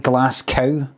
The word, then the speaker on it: Glasgow: They don't really anymore. They used to say uh like glass kind of like glass cow. Glass gal glass. I would think the go was meant to be said like cow instead of go here.